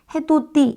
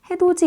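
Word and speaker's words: 해돋이: 바로이를 발음하기가 어렵거든요 그래서 디귿이 자연스럽게 자연스럽게 해도 띠 이게 아니라 해도지 이렇게 바뀌는 거거든요 같이 갑시다 마찬가지예요 가티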